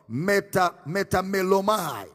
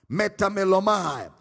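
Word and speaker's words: μεταμέλομαι: It was translated from the Greek word metamelomai. Metamelomai. It is spelled as M-E-T-A-M-E-L-L-O-M-A-I.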